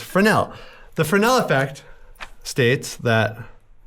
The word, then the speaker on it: Fresnel: I'll spell it because it's French and it'll make you say, "Hey, that looks like Fresnel, but it's Frenel."